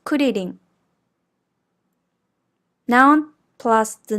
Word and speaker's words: クリリン: Be careful when you pronounce the R sound in Japanese. The tip of your tongue lightly touches or flaps the gums behind the back of your front teeth.